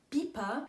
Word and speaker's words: BiPa: sehr bekanntes drogeriegeschäft heißt pieper was ursprünglich von billige parfümerie kam wie ihr gehört habt wird diese abkürzung wie ein wort ausgesprochen und nicht buchstabiert orf steht für österreichische